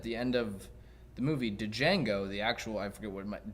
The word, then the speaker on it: Django: I don't know, Django, It's Django. but I didn't say the D. The D is silent.